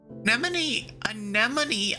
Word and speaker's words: Anemone: Anemone, I said it right.